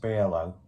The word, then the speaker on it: BRŁO: I'm sure it's supposed to be pronounced BRŁO, which will make sense, Berlin, beer, low.